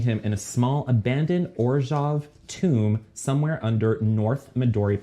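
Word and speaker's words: Orzhov: in a small abandoned orjov tomb somewhere under north midori park also discovered that it's present it's pronounced orjav because it's like it's slavic yeah um yeah so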